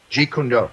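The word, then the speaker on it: Jeet Kune Do: so he's in the old jet is it jet kendo is that how you say it ji kun go yeah okay so I'll go into our first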